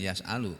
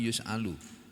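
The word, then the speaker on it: يُسْأَلُ: Berarti bacanya bukan yas'alu, tapi yus'alu. Oh ya, di sini yus'alu, di sini bacanya yus'alu.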